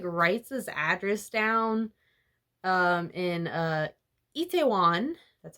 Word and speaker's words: Itaewon: And then she, like, writes this address down in Itaewon. That's how you pronounce it.